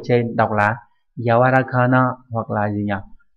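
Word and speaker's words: 柔らかな: Âm khương yomi giống hệt như chữ nhu ở trên, đọc là yawarakana hoặc là gì nhỉ, yawarakai đúng nhỉ, nghĩa là mềm xốp.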